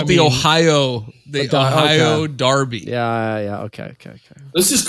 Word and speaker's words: Derby: In England, it is pronounced Darby.